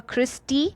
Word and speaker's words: cristae: So whenever E is present at the end, we pronounce it as E. So here we have a cristae.